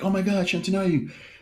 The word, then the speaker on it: Shantanu: How do you pronounce his name? Shantanu.